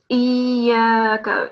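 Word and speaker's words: إِيَّاكَ: Iyaka. Jazakallah. So it's iyaka. It's a bit of an emphasis due to the shadda.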